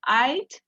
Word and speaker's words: I'd: Pero si lo dicen así, de la forma contraída, tienen que pronunciar muy bien la D. Porque si solamente me dicen I buy a house, va a parecer que están hablando en el presente simple.